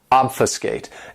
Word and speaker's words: obfuscate: my favorites is obfuscate this verb has three syllables and the stress is on that first syllable obfuscate and what it means